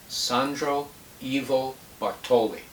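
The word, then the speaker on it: Sandro Ivo Bartoli: bar on youtube and it's spelled exactly the way it sounds sandro s a n d r evo ivo bartoli b-a-r-t-o-l-i he's a concert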